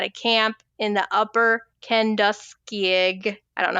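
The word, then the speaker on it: Kenduskeag: camp in the upper Kandig. I don't know how you pronounce that but it's a real the what? It's just simply Kandeski.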